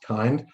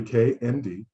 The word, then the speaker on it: K&D: Many people assume that it's pronounced kind, but it's actually K&D, and it stands for Kinetic, Nano, Dynamics.